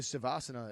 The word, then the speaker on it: Shavasana: Shavasana.